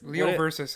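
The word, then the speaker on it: Leo v. Ursus: Yeah, Leo Versus is the way it was pronounced to me.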